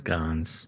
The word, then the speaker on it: Hermes: He said the silent P gave the word Pfizer a luxurious feel, reminiscent of the silent H in Hermes.